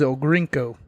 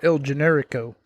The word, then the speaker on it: El Generico: my YouTube channel because I said his name wrong because I don't speak Spanish I thought his name was El grinko not El Generico because I couldn't read Spanish it wasn't until someone actually pronounced it in a video and sent it to me that I understood what I said was wrong I did not mean